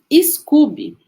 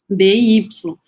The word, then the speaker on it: SCOBY: Na verdade, eu devo estar falando errado, né? Porque se a gente for pronunciar, talvez fosse SCOBY. Porque quando a gente fala Scooby, a gente lembra do Scooby-Dooby-Doo, né? E não é. O Scooby do desenho tem 2 Os, esse SCOBY é SCOBY.